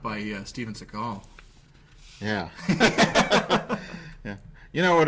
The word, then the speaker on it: Seagal: Seagal. He's Jewish. I don't know if he's Jewish, but that's how it's pronounced.